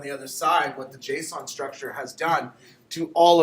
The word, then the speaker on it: JSON: I pronounce it JSON. Some people pronounce it Json, right? They'd have to say every single letter. Or Json. Some people actually say Json, like they're spelling it like Jason, right? But it's not. It's Json, right?